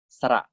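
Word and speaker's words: สระ: Vowels in Thai are known as sara. So the vowel R, right? I can call it sara A, sara A. Okay. When I pronounce it, I say sara A. It means the vowel A.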